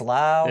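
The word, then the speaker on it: Lowe: know you got Brandon Lau apparently his name's pronounced loud was in there he's hidden homer so yeah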